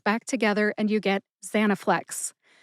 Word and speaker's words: Zanaflex: together and you get Zanaflex. Which syllable do you emphasize? That is a good question because no emphasis is indicated in any literature anywhere. But I personally tend to emphasize that first syllable, za.